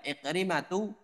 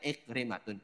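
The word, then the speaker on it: عكرمة: muawiyatu bukan muawiyatun dan iqrimatu bukan ikrimatun semuanya yang berakhiran tak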